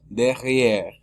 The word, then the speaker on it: derrière: La E es muda al final porque no tiene acento. La única forma que la E al final se pronuncie es cuando la E tenga acento al final. Si no tiene acento es muda.